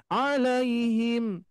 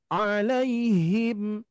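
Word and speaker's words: عَلَيْهِمْ: dulu sering KSI ya karena seringkiali saya mengucapkan juga dulu gini Bu Pak alaihim alaihim G enggak ada yang nempel Tuh makhrajnya tapi kalau kalau makhrajnya ingin nempel pas di Pangkal itu bunyinya harus ada gemaan sedikit ya alaihim alaihim Nah itu huruf Ha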